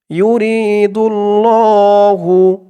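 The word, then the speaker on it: يُرِيدُ ٱللَّهُ: আপনাদেরকে অক্ষরে অক্ষরে শব্দে শব্দে ভেঙে ভেঙে সঠিক উচ্চারণ করে বলে দেব আপনারাও আমার সাথে সাথে ঠোঁট নাড়িয়ে বলবেন ইউরিদুল্লাহু ইউ রি এক আলিফ টান জেরের পরে ইয়া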